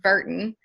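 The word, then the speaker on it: Wirtgen: River technology and the Virtanen group so it's spelled Wert until dits pronounced Burton so I hope I'm saying that right and blue river technology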